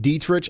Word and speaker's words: Dietrich: It's pronounced dietrich. I knew I said it wrong.